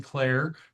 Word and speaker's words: Clare: My name is Clare, pronounced the same way as Claire's name.